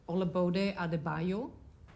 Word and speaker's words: Olabode Adebayo: it's not that important am i pronouncing your name right olabode adebayo yes that's right great that could have been